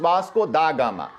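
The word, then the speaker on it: Vasco da Gama: पढ़ते हैं, इट इज वास्को दा गामा, तो वो डी को डा नहीं पढ़ते हैं, दा पढ़ते हैं, समझ रहे हैं?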